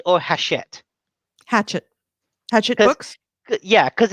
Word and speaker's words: Hachette: heroes hatchet is it hatchet or hachette hatchet hatchet books yeah cause it's it's not hatchet like the little axe that you stick into a tree it's pronounced like that okay um it's a